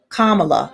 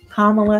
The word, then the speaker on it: Kamala: like kamala harris vice president now kamala harris kamala sorry gotta pronounce that right gotta remember that kamala harris